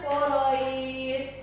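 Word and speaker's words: قريش: Kalau kita membacanya di wakof itu terjadi mad. Quraish panjang mad ya. Bacanya sekitar 2 sampai 6 harokat. Oke? Nah, 2 sampai 6 harokat. Li'ilafi Quraish.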